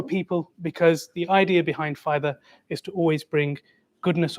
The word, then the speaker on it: Pfida: And as Molana Shams already alluded to, the P at the start uh is a silent P and it stands for people because the idea behind Fither is to always bring goodness or benefit to the people inshallah.